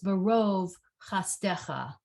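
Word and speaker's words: בְּרֹב חַסְדְּךָ: the way I would pronounce this word, I was taught to pronounce this barov chastecha. So it's more like a O than an A. And that's what that dot is indicating.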